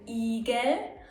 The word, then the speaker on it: Igel: I can be pronounced long, I as in Igel, or short, I as in ich.